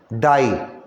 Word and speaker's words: dye: यहाँ है DYES, और S को हटा भी सकते हो प्लूरल बनाने के लिए, DYE, डाई। और एक डाई का स्पेलिंग हम लोग लिखते हैं DIE, सेम पढ़ते भी हैं डाई, मगर दोनों तो बहुत डिफरेंट है।